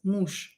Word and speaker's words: муж: You can hear that here I pronounce je as sha, muž. I don't pronounce it as muž. No, I pronounce it as muž.